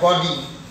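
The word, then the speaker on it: gaudy: को बोलते हैं जी ए यू डी वाई, गॉडी, या इसी को बोलते हैं टाउड्रे, टी ए डब्ल्यू डी आर वाई, टॉड्रे।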